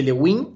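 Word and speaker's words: Le Guin: vino en el parche le Win o sea lein se pronuncia como la escritora uno en el juego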